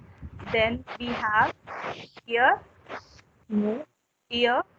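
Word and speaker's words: ihr: here, that R is silent here.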